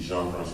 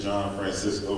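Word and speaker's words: Jean-Francois: say my name right everybody said John Francisco when I finally got I got around people people I started people saying I was like that's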